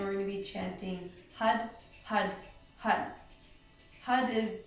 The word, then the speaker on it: Har: going to be chanting hut hut hut hut is spelled har it's pronounced as if it's almost a D sound hut hut hut and